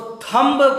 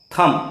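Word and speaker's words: thumb: missionary school वाले इसको थंब्स पड़ते हैं अब आप सोच मीणा कि कैसी अंग्रेजी वह सिखा रहे हैं क्योंकि MB लास्ट में है बे साइलेंट हो जाएगा अतः इसका उच्चारण हम थम फॉर थम थम नहीं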